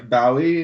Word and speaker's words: Bowie: I thought it was like a bow, Yeah. Like on wrapping paper?